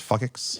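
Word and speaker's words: FCIX: It's FJX. It's pronounced fuckix.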